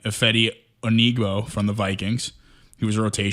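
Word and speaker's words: Odenigbo: Ohedibo.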